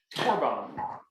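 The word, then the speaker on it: קרבן: And it's pronounced korban. You may have heard that korban, and this is used 82 times in the Tanakh.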